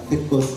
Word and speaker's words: Virchow: Where is the Virchow's node or Firko's node? The correct pronunciation is Firko.